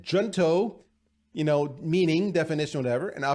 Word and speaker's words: Junto: I think it's Junto.